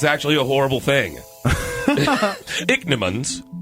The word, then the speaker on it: Ichneumon: actually a horrible thing dick Nimmons pronounced dick Nimmons smell that I CH n EU mo NS their master soup for family